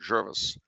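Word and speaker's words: Gervais: was first settled so in places like javet as I would call it they probably pronounce it Jervis and St Paul St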